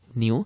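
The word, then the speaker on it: ν: মানে এটার উচ্চারণ হচ্ছে কি নিউ।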